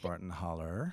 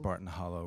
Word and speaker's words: Barton Hollow: Alabama state line and it is properly pronounced Barton holler holler um if you said Barton Hollow back where I'm from